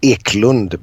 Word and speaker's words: Eklundh: It's well, the Swedish pronunciation is Eklund, but in India the